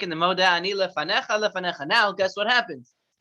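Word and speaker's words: לְפָנֶיךָ: Lefanecha, just like in the Moda Ani, lefanecha, lefanecha. Now, guess what happens? What does it say now? Same thing. Same Lefanecha. thing. Very good. The yud, if it doesn't have a vowel, is silent.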